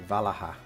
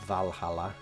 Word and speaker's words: Valaha: Oh, Valaha. Not Valhalla. Jesus. Right. Valaha.